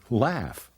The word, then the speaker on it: laugh: light bright at the end of some words gh makes an F sound like in laughs and in tough and rough and even in cough one more time okay